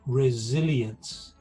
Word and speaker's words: resilience: build physical and mental resilience notice that the s in this case is pronounced like a zed resilience so what does that